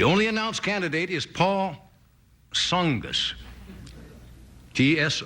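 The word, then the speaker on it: Tsongas: announced candidate is Paul SAS TS o n g- a s the t is silent right Paul SAS came out with his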